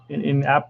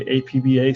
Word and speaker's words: APBA: house shaking that cup that's a must with app' and that's how you pronounce it app' versus a a PV a some people say a PBA some people that are not you know up